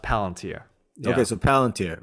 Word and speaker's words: Palantir: i rejected but it's they've told me it's pronounced palantir okay so palantir right they have uh so